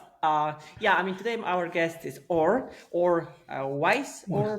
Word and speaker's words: Weis: The most correct one is Weiss, but Weiss. come from the German root. But Weiss is also acceptable.